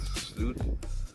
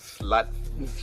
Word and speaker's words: SLÜT: So basically my brand is SLÜT. commonly mispronounced as SLÜT. Like, so you got the U with a little umlaut on the top, so that's U, and it's spread love, unity, and tolerance.